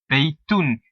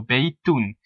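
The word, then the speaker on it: بَيْتٌ: And most of the time, an indefinite noun, if you listen how I pronounce it, baytun, it will have a dhammatain, a dopesh in the Urdu term, on the ending. So baytun.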